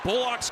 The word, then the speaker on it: Bullock: The players pronounce their names, so he does go with the, if you're familiar with the NBA, the Reggie Bullock style pronunciation of the last name.